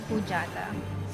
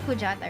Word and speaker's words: Kujata: I found is in fujada am I saying it right it's not it's kujata right I mean I'm pretty